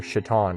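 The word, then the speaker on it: שָׂטָן: synagogue of Satan or shitan right as it's pronounced in Hebrew um uh the subject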